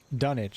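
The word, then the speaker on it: Dunnage: Dunwich, that's the correct pronunciation.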